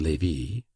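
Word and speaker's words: Lévis: There were in Madame Dati's salon some very noble ladies named Metha Noa Levy, L E V I S, which was pronounced Levy, Kambes, C A M B I S, pronounced Kambes.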